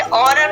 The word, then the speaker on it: honour: पढ़ेंगे, क्या पढ़ेंगे एच, क्योंकि यहाँ पे देखिए ओ से पहले आपका क्या आ चुका है, ओ से पहले आपका एच आया ना, तो एच आपका क्या होगा साइलेंट हो जाएगा, ठीक है। यहाँ पे साइलेंट होगा और हम एच को क्या करेंगे नहीं प्रोनाउंसिएशन करेंगे और इसको क्या पढ़ेंगे ऑनर पढ़ेंगे, ठीक है ऑनर।